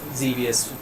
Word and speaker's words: Xevious: Azrael, getting back on the Xevious thing, Xevious was to rhyme with devious, and so I think